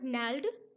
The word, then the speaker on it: gnarled: अब ये GNARLED, इसमें जी साइलेंट होता है। और नैल्ड डिजीज, नैल्ड डिजीज होती है गठिया बाव, गठिया की बीमारी होती है जिसमें हड्डियां मुड़ जाती हैं।